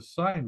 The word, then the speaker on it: Seine: And she goes, it's not the Seine River, it's the Seine River.